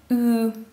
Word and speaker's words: ү: Для того, чтобы правильно произнести данный звук, нужно вытянуть губы в трубочку, как при произношении звука У, но при этом изменить положение языка. Кончик языка касается нижних зубов и поднимается его середина.